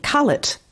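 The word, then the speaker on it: cullet: what's that called again on it it's called call it it's spelt c-u-double-l e-t yes that's right the professor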